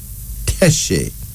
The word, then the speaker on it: Teshi: We call her Teshi.